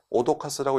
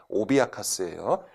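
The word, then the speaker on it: 脅かす: 수돗물을 오비아카스, 발음 조심하세요. 오도카스라고 읽으시면 안 됩니다. 오비아카스예요.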